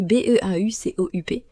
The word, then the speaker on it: beaucoup: Par exemple, le mot beaucoup, on écrit B E A U C O U P mais on prononce seulement beaucoup.